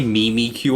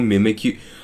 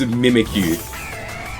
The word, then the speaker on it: Mimikyu: Do you guys say Mimi Q or Mimikyu? I hate when people say Mimi Q. It's Use your brain for a second. It's mimicking Pikachu. The whole point is that it's mimic you.